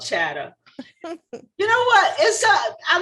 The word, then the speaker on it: Chatta: It should it be an ER? Because you know everybody from the north, they don't pronounce theirs R's.